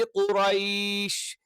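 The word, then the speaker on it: قريش: ഇത് ആ അക്ഷരമല്ല മറിച്ച് എന്താണ് ക എന്ന് പറയുന്നതിന്റെ കുറച്ചുകൂടി ബാക്ക് സൈഡ് എന്ന് അപ്പൊ നാവിൻറെ ആരംഭം അഥവാ നാവിന്റെ മുരട് എന്ന് നമുക്ക് പറയാം അതിനു നേരെ മേലുള്ള അണ്ണാക്കിന്റെ മൃദുലമായ ഭാഗം അല്ലെങ്കിൽ ചേർത്തുവെച്ചുകൊണ്ടാണ് നമ്മൾ എന്ത് ചെയ്യുന്നത് ക എന്നുള്ള ഉച്ചാരണം പറയുന്നത് നമ്മൾ ഈ കാക്കയുടെ ഒക്കെ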